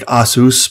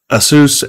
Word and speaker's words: Asus: Yeah, there's like, I think the proper pronunciation would be like Asus, but no one says that in the US.